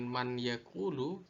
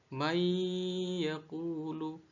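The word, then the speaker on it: مَنْ يَقُولُ: Maka cara bacanya adalah dengan memasukkan suara nun mati ke dalam huruf ya, sehingga seakan huruf ya ini bertasdid dan nun mati ini seakan tidak pernah ada. Maka cara membacanya bukan man yaqulu, tapi dibaca may yaqulu, may yaqulu.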